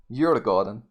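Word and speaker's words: Djurgården: But anyways, the D is silent. Says you're the garden. Is that correct, Antoine?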